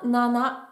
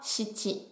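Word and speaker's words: 七: On va le prononcer soit nana, soit shichi.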